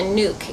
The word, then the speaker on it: nuc: you can order what's called a nuke and it's spelled nuc um the package bees